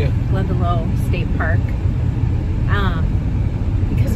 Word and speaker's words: Glendalough: And then I think later this afternoon we're going to go to Glendalough. Am I pronouncing it correctly? Yeah. Glendalough State Park.